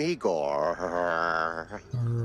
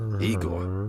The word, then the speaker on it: Igor: I'm Igor. Igor, not Igor? No, Igor.